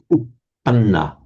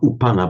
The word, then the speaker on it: uppanna: This also be careful about the doubling of consonants. So upanna, not upana, but upanna. Manna. Upanna, and you've really got to hold it.